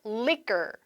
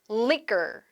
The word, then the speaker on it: liquor: liquor. liquor. 스펠링하고 약간 발음 느낌이 조금 다르죠.